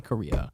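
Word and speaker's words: Corriea: middle Korea c o r r i EA Korea okay that is not even that's no I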